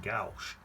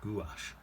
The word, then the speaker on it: gouache: ringer brush that apparently i keep saying gauche apparently it's pronounced gouache i don't know all